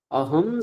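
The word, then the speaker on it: अहं: বলি সর্বদা সত্যম বাচমি আচ্ছা বলুন তাহলে এখানে যে অনুসারটা রয়েছে তার উচ্চারণ কি হবে আমরা একটু আগে নিয়ম বলে দিলাম কি বলব মকার বলব এখানে এখানের অনুসারটাকে আমরা মকার বলব। অনুস্বার তুলে দিলাম। তুলে দিয়ে আমরা কি বললাম? মকার। অহম সর্বদা।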